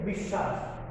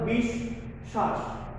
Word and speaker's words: বিশ্বাস: যে পদের মধ্যে বা অন্তে ব বফলা সংযুক্ত বর্ণের উচ্চারণ দ্বিত্ব হয়। তোমরা ইতিপূর্বে ক্লাসে বুঝিয়ে ফেলেছো, দ্বিত্ব মানে দুইবার উচ্চারণ করতে হয়। যে ব্যঞ্জনের সাথে যুক্ত হবে বফলাটা, ওই ব্যঞ্জনটাকে আমরা দুইবার উচ্চারণ করব, ওই ব্যঞ্জনকে আমরা দুইবার উচ্চারণ করব। যেমন তোমাদের সুবিধার্থে আমি একটু সাদৃশ্য রেখেছি। প্রথমে শ্বাস লিখেছিলাম, এর সামনে বি লাগিয়ে বিশ্বাস, অর্থাৎ বিশ্বাস, বিশ্বাস।